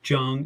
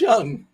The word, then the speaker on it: Jung: about Josh Jung now I know his name is young but if I say young people might go type it in y o u n g it's Jung it's spelled Jung so Josh Jung yeah is